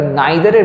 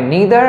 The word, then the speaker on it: neither: তো দুজনের কেউই নয় সেন্সে আমরা নিদার বা নাইদারের ব্যবহার করতে পারি। দু রকম প্রোনাউন্সিয়েশনই তোমরা করতে পারো, একটা হয় নিদার আর একটা হয় নাইদার।